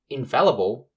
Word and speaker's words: infallible: capable of making mistakes infallible just like the last two words uses the in prefix which is then followed by the f-a-l-l which is pronounced fal and not fall this is then followed